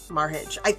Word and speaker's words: Merhige: Today's story is actually about Paul Michael Merhige, Merhige.